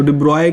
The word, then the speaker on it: de Broglie: इसको डिब्रॉय कहते हैं, मतलब इनका जो एक्चुअल प्रोनाउंसिएशन है वो डिब्रॉय होता है, बट वी आर pronunciating it as de Broglie।